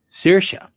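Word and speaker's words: Saoirse: the song names is quite funny but yeah sirsha i sent her an instagram message asking her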